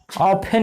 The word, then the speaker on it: often: ऑफन इसका उच्चारण नहीं करते हैं, ऑफन, ऑफन, फेन नहीं, फन, ऑफन।